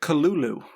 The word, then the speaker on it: Cthulhu: And then I learned that not only is Cthulhu not necessarily the right pronunciation, wasn't even the original spelling and also HP Lovecraft who was an enormous racist side. I'm like he he's not a good person. Um uh he pronounced it kulu.